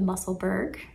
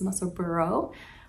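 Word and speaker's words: Musselburgh: one on which is if i use the american pronunciation the muscleburg i'll link the american pronunciation link below but if you want to use the british pronunciation which is muscle burrow i'll link that pronunciation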